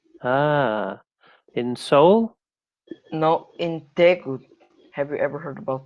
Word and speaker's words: Daegu: So Daegu, is Yeah, that how you pronounce Daegu. it? Daegu.